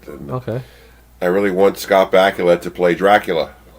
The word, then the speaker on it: Bakula: I really want Scott Bakula to play Dracula Scott Bakula for sure I mean come on it's the only name that rhymes with Dracula why isn't nobody it